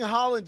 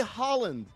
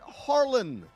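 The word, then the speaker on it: Haaland: Except he didn't say Holland. He kept pronouncing it Harland.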